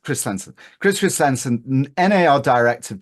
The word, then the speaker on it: Christensen: Christensen, is that how your Yeah, name's pronounced? Christensen.